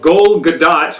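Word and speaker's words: Gal Gadot: you know devastated by it the G the gold gat which is how it's pronounced actually the goad do casting I was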